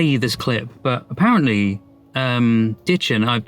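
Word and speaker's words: Dichen: I'll have to play you this clip, but apparently Ditchin, it's so difficult because I'm so used to calling a Deacon Logman, or Dickon Logman, but I wasn't entirely sure how to pronounce it.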